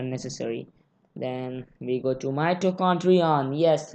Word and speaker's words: mitochondrion: Actually the zigzag part is not only the mitochondria, the whole part is mitochondrion.